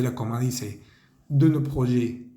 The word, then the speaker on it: projets: Decimos no projet, no projet. La palabra proyectos no se pronuncia ni la T ni la S. No vamos a decir project, ni projects, ni projects.